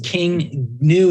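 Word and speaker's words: King Gnu: called King new and it's King new is spelled GN I think they're pretty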